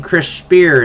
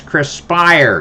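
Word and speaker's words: Spiers: You don't pronounce his name Chris Spear. It's Chris Spire.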